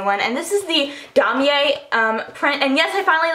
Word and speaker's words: Damier: And this is the damier print, and yes, I finally learned how to pronounce it. Damier. It's not damier, it's not whatever, it's damier.